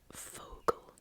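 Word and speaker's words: Vogel: in German is D Fogo Fogo um V's in German are pronounced more like an F so yeah ter FAL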